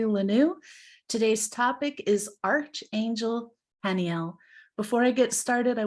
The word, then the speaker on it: Haniel: God or joy of God and it is pronounced Haniel the origin of her name is the Hebrew